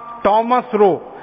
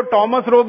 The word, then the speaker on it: थॉमस रो: भारत में आया था उसका नाम था थॉमस रो अंग्रेज उसको टॉमस रोग कहते हैं थॉमस रोग कहते हैं दोनों उच्चारण उसके नाम से मशहूर पहला अंग्रेजी ईस्ट